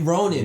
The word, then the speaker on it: Ronin: Yeah, Ronin. That's how you pronounce it.